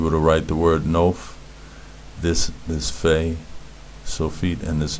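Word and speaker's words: נוף: So this word is pronounced nof, nof, nun, o, f, nof, right?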